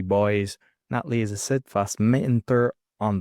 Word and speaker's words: Natalie: It's actually Natalie. It's not Natalia, it's Natalie.